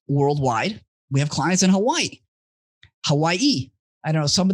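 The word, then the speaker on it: Hawaiʻi: get technical the the w's here are actually pronounced as a v so it's hawaii hawaii hawaii okay i'll bear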